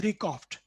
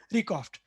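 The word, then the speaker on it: RECOFTC: this short name is rikoft uh with c silent at the end so that's how we pronounce it recoft uh so at record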